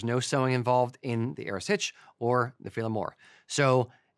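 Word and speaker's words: earasaid: Now, the Erisage, it's just for everyone out there, Erisage, E-A-R-A-S-A-I-D, in Gaelic is Erisage.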